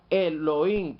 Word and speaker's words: Elohim: Tenemos esta otra palabra que se pronuncia Elohim, que empieza con la palabra El, singular, empieza con el Señor Cristo Yeshua.